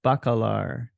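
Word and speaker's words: Bacalar: healing and wellness retreat in how do you pronounce that that's bakalar yeah bakalar Mexico Mexico near Tallulah yes right right near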